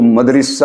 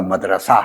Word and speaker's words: مدرسہ: بعض لوگ اس کو مدرسہ اور پتہ نہیں کیا کیا کہتے ہیں، یہ صحیح تلفظ اس کا مدرسہ ہے.